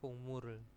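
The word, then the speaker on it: 국물이: Kungmuri inen emsikero ya, merupakan makanan yang ada apa kuahnya gitu ya, kungmuri ya bacanya.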